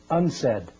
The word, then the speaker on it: UNCED: Nations committee for environment and development it is pronounced unsaid and perhaps indicating the secret agenda of this